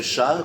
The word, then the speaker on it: chat: Donc les Anglais, Comme le chat. Comme ils la remplacent notre... La chatte. Ils n'arrivent pas à prononcer chat, ils disent cat.